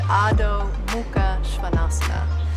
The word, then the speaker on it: Adho Mukha Svanasana: In Sanskrit, we pronounce it Adho, Mukha, Svanasana.